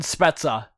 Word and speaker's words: Spezza: The correct way to pronounce his name is Jason Spezza.